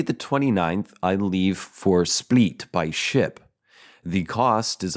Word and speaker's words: Split: It's S-P-L-I-T. I think I've heard of this city before, and I think it's pronounced Split, like spleef. But so that's how I'm saying it.